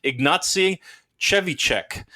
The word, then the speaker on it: Ignacy Trzewiczek: They have a YouTube video on how to properly pronounce Ignacy's name. Ignacy Trzewiczek.